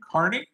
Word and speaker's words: Carney: after Canada's I don't want to butcher the pronunciation of his last name. Carney.